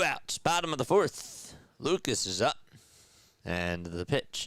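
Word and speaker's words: Lukes: And Nathan Lucas fouls it up. It's interesting. You know, his last name is spelled like Luke's, but the pronunciation according to the pronunciation guide is Lucas.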